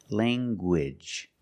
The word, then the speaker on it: language: You have the nasal sound, lang, and the hard G. Gwidge. Language.